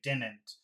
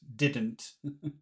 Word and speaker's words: didn't: of people do that there are some people who would say didn't I hate that I really hate it when people do that it's it's not so common but sometimes people do that it sounds horrible I would recommend saying both both D's didn't okay Al